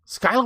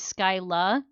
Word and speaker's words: Skyla: yeah, if they say my name's Skyla, they're pronouncing it wrong or wrong in their heads, and if they say Skyler, they're saying it right in their heads.